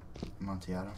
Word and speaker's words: Amontillado: Amontillado? Yeah. Is that how you say it? As far as I'm concerned. I thought there was a G in there somewhere. No, there's no G.